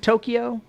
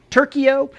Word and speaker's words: Tokyo: what what did you say in place of Tokyo turo turo is turo is the capital of Japan